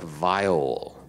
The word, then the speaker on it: viol: You also see a masterwork viol buried among the soiled clothes. A what? And garbage. Vial? What word? Viol. A viola? No, like a fiddle? It's like a violin, but it's viol.